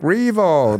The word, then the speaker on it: Riewoldt: My name was phonetically written on the floor so the brand of flowers didn't screw it up too much. Looked like yep, Jack Revo.